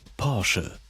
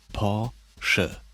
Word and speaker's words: Porsche: Porsche. Porsche. Now did you hear it? The traditional German R comes from the back of the throat, Porsche. Porsche.